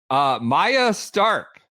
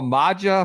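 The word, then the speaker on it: Maja Stark: Maya Stark, person I used to call Maja for some reason. Maya Stark. Masha, no more. Now that she's won her major, she's graduated out of your mispronunciation world.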